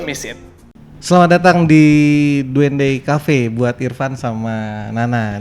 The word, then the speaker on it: Duende: kenapa sih namanya jadi Duende Cafe gitu kan. Awalnya itu tuh dari kata Spanish, tulisannya tuh Duende, Duende. Cuman pronunciation-nya Duende.